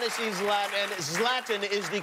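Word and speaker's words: Zlatan: Center we want to see his lab and zlatin is the correct pronunciation yes love them thank you very much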